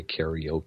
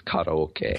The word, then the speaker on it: karaoke: um like Koke well everyone mispronounces that in English yeah okay fair enough we say karaoke karaoke yeah when really it's karoke karoke yeah so yeah okay